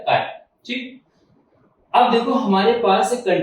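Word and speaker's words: χ: Symbol होता है, ठीक, इसको बोलते हैं काय, ठीक है, CHI स्पेलिंग है इसकी CHI, और आप चाहो तो जो मर्जी वो बोल लो, ची बोल लो या काय बोल लो, एज यू विश, ठीक है।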